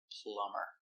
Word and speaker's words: plumber: And that's the reason the B is silent. Plumber.